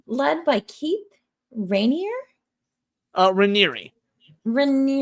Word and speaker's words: Raniere: Uh Reeri Reeri I thought it was Reineer as well. I had to watch a bunch of interviews to figure out how to pronounce it. Yeah. Reeri.